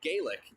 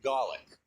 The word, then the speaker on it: Gaelic: So if you've ever heard of Gaelic, it's actually pronounced Gallic, and that's where most